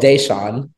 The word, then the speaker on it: Deshaun: Is it Deshaun or Deshaun? Oh, it's Deshaun.